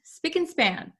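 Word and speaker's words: spick and span: think speak and span and span Okay so let's go over the pronunciation first because although we have and here usually when we pronounce this word we say and span speak and span speak and span so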